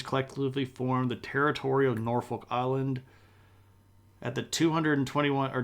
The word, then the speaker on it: Norfolk: I'm not hating on Norfolk Island I just literally know nothing about it can we can we Wiki Norfolk Island all right oh they don't pronounce the L it's norfol because you